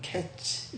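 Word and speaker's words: קץ: 제가 발음이 좀 안 좋아서 그런데 이게 다 위에 거는요 카이트 이렇게 읽습니다. 밑에 거는 캐치 이렇게 읽어요. 근데 이 원어민들이 읽으면은 거의 발음이 같아요.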